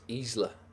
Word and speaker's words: Isla: If you take Espanol, it's Isla.